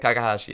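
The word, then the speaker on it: Kakehashi: and and and also your relationship with ikuro Kakashi I'm I'm I'm not pronouncing that correctly I know but you're you're pretty close Okay Kakashi you got it Kakashi okay uh we we became friends in 1969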